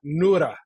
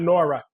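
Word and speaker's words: Noura: Every day I look in the mirror and I say Nura Ericat, Nura, not Nora, Nura Ta-Nehisi.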